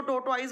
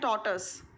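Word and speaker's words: tortoise: कई लोग इसको टोटवाइज बोलते हैं बट इसकी करेक्ट प्रोनाउंसिएशन है टॉर्टस।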